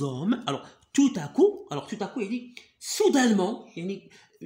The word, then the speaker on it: tout à coup: marche toute seule il est accompagné de personnes tout à coup tout à coup alors pena on la prononce pas ah pourquoi je te ta coupe tout à coup d'accord alors soudainement et fougère on doit respirer